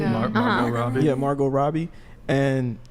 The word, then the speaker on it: Margot: I tweeted, this conversation came up on Twitter, and I posted a picture of Margaret Robbie. Is that how you say it? Margot Robbie.